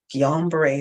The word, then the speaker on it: Guillain-Barré: gione bar bark young berries how do you pronounce it how do you keep Joan it is beret Guillain-Barre syndrome that's how you say it and for